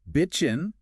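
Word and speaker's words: bitchin': the pronunciation absolutely crucial bitching the positive adjective usually drops that g sound at the end b i t c h i n whereas bitching the verb for complaining.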